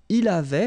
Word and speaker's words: il avait: Il avait, final T not pronounced.